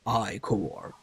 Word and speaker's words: Ichor: fill it with magical eye core that that's pronounced i core choose your icon wisely so you have three